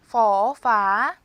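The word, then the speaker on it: ฟ: 제가 허하라 써 놨지만 허하는 아니고요 F 발음을 해 주셔야 돼요 우선 생김새는 버튼이랑 비슷하지만 더 위로 올립니다 쭉 올려 주시고요 포파 포파 퍼파 F 소리 나시죠 퍼 파 그래서 초자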